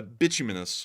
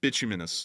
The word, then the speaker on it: bituminous: source and it used uh binus if I'm pronouncing yeah bituminous there we go ra that that girl